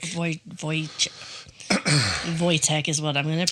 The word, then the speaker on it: Wojtek: But the W is pronounced with a V, right? I guess it could be Voyche. Voycheek. Vo Voy. Voytech is what I'm going to pronounce it as.